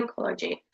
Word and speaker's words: psychology: not saying power right in psychology we have silent p we're not saying psychology we're saying psy psychology.